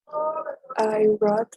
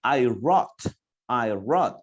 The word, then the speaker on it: wrote: I wrote a lot of postcards at the hotel. Thank you very much, Rebecca. Thank you very much. Okay, I wrote. You don't pronounce I wrote, no, I wrote.